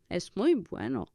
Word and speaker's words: bueno: would be it is not that bu right Bueno it is not very good buen Bueno it